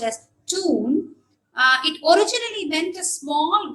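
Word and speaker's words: tūn: Say for example, TUN, okay, pronounced as tune. TUN, U with a long, with a line above, or a line overhead, which means it's a long vowel, which would be pronounced as tune.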